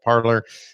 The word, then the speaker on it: Parler: I think it's actually pronounced Parley, but hey, we're Americans. We call it Parler.